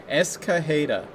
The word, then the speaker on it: Escajeda: unless they're playing some jokes or something like that, but Escajeda. Escajeda? Okay. Escajeda. All right. Would be the correct pronunciation of Matt Escajeda.